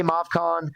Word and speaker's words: Movcan: How you pronounce that? I say Movcan. I've heard Movcan. I like Movcan. Just rolls off the tongue a little better.